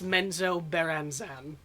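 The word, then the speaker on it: Menzoberranzan: Technically, it's Menzo Beranzan.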